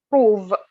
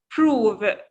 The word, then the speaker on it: prove: Okay, we don't say prove. You make an air when you pronounce this word. We will, inshallah, next time in phonology session, we will start with consonant. Don't worry about this common mistake. So it's prove. It's prove. Prove. Yeah, Prove. you push air from your mouth.